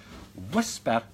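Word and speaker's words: WSPR: west Scotland paranormal research or pronounce it as whisper because that's the most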